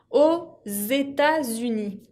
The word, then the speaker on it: aux États-Unis: Quand on utilise « o » que termina con X ou « de » que termina con S, con un país que empieza con una vocal, il faut faire la liaison, la unión. Par exemple, aux États-Unis. Se une la X con la E para tener una pronunciación más fluida.